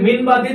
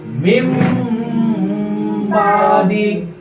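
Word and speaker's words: من بعد: তাহলে কিরকম হবে? মিম বাদি। যদি কেউ বলে মিন বাদি তো তারটা ভুল হয়েছে। কি পড়তে হবে? মিম বাদি।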